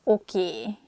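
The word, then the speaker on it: oké: okay okay okay okay this word comes from english probably it's easier for hungarian speakers to pronunciate it that way so we just say a sound a at the end so it sounds oki instead of okay and easiest excuse me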